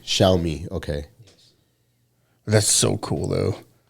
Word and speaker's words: Xiaomi: Well, this is I don't know how they pronounce that car. Xiaomi. Xiaomi.